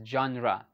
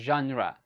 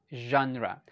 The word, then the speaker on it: genre: common is a common word for us we pronounce this as genra okay genre one more time genre so if you can see here the first uh this is pronounced as letter z okay genre genre all right very good okay you're doing